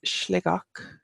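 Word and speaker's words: Sligeach: we have Sligo that's like oh and it's slick och and it translates as Shelly place not sure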